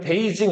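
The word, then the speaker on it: 北京: 예를 들면은 뭐, 아까 북경 있죠, 북경. 북쪽의 수도라는 우리 번역하면 그냥 북경인데 그 북경을 중국 사람들은 베이징 이렇게 읽는다고.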